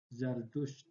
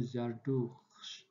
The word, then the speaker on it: Zardusht: Tapi ketika dibaca, maka dibaca Zardusht ya. Ini ada yang kurang. Nah, ini harusnya Zardusht ya, ada huruf D di sini nih. Zardusht.